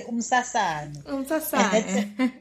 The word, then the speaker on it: Umsasane: I think Umsasane. A Bordeaux? Yes, it says it's a Bordeaux. Yes. You just pronounce it nicely. Umsasane.